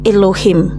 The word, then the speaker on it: Elohim: Ternyata original words-nya Elohim, part of speech, noun masculine, transliteration Elohim, pronunciation adalah Elohim.